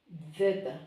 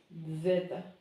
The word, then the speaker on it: zeta: We will pronounce this letter zeta, like a DS, zeta.